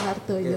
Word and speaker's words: Wardaya: Nggih, Wardoyo. Bacanya Wardoyo.